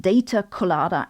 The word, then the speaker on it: Data Colada: That's not me mispronouncing collider, but data colada as in pina colada.